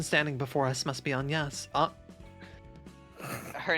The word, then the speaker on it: Agnes: Wait, how's it pronounced in French? Agnes.